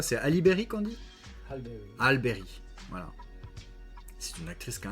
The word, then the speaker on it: Halle Berry: Bon, je sais pas si ça se prononce comme ça. C'est Halle Berry qu'on dit? Halle Berry.